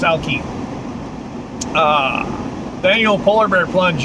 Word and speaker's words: Alki: be fine anyway and alki beach i think it's pronounced alky uh daniel polar bear